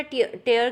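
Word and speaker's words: tear: that is called टियर टियर is just like fair ठीक है एफ ई ए आर तो आपने देखा कि दोनों के दोनों स्पेलिंग सेम है टी ई ए आर टी ई ए आर और दोनों का प्रोनंसिएशन और दोनों की मीनिंग कंप्लीट डिफरेंट है फर्स्ट वाला टेयर का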